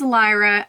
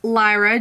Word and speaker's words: Lyra: I believe it's pronounced Lyra just like the constellation that it was named after don't choose something that's